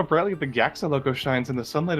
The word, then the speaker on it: JAXA: I think GYAXA. you're meant to say it like GAXA, like kind of like NASA.